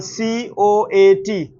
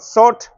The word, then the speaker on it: coat: Or another example, C O A T. How do you pronounce this? Coat. It is not sought, it is coat.